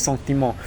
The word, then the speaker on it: sentiment: In French it's pronounced as sentiment.